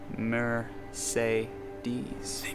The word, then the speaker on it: Mercedes: a blow your mind the word Mercedes has the letter e pronounced in three ways mur say DS about the word bed